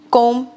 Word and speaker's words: comb: Just like if you can see, there is a silent letter B, which we are not going to pronounce while we are pronouncing comb, thumb, thumb.